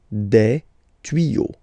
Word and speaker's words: tuyaux: Same rule, you don't pronounce it. Des tuyaux. Okay, un tuyau, des tuyaux. So the only difference will be with the article because the word will be pronounced the same way.